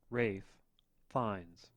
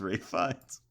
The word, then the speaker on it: Ralph Fiennes: Rafe Fiennes. What the fuck? It's Ray Fiennes. It's Rafe Fiennes.